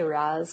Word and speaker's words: Ra's: I usually just say Raz because it's easier. Like R-A-Z, that's how I look at it.